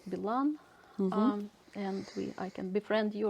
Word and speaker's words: Bilan: Another way, you are welcome to find me on Facebook, Instagram, whatever, Bilan.